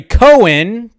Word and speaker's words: Cohen: interesting too because Barry Cohen that was brought to my attention I've been saying his last name wrong but apparently it's Cohen uh he posted this